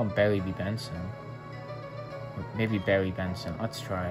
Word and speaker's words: Barry B. Benson: We can call him Barry BB, though. Barry B. Benson. Barry BB, is it? That's your friend's name? No, it's Barry B. Benson, but yeah, I guess you can pronounce it that way.